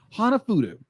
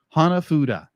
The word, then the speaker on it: hanafuda: played in this played in this movie hanafuda hanafudu hanafudu hanafuda hanafuda okay hanafuda I know how to pronounce it because that's what Nintendo made when